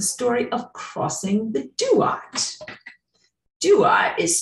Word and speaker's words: Duat: that came out of their mother and then doing soul hopping or soul tract review of the